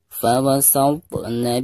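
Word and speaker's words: فَوَسَطْنَ: Perhatikan huruf ta sukun ya. Huruf ta ini adalah salah satu daripada huruf qalqalah. Di sini di tengah-tengah bacaan, maka dihukumi qalqalah sugro ya. Dibacanya harus dipantulkan dengan suara pantulan yang tipis ya. Fawasatna, seperti itu.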